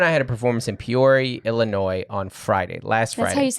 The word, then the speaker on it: Peoria: had a performance in Peoria Illinois on Friday last Friday that's how you say that peori Peoria Peoria it's French as Peoria but I know